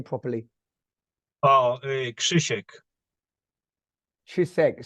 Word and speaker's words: Chek: your name properly oh Chek Chek so it's it's more CH in English chisek it's like it's like almost silent k first yeah Shish Shish Shish yeah there you go nice Shish wow beautiful